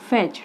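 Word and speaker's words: fetch: वी कैन फेच, टी इसमें हमारा silent है, एफ और जे का स्ट्रोक बनेगा इस तरह से, फेच your car and leave it at your door.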